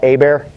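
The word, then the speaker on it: Hebert: Phil cuz his last name drives me nuts because it's spelt h-e-b ERT and that's somehow a bear and people say people say the H is silent take it out so I have renamed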